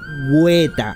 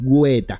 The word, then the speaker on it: Weta: por lo que no sé exactamente cómo se pronuncian estos caracteres en neozelandés, por lo que le diré... Weta, así con G y la U con diéresis, Weta.